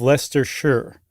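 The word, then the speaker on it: Leicestershire: if you will of the larger county of Lester Shure.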